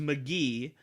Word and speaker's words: Mk.gee: It's pronounced McGee, but it's MK.GEE.